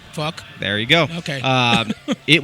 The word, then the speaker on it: Phuq: They have an album called PHUQ, which is pronounced... Fuck.